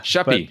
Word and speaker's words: Schaeppi: I I believe so let's talk about Joe shapy is that is that a decent way to pronounce it that works uh she yeah sheppy sheppy all right I'll try that he's a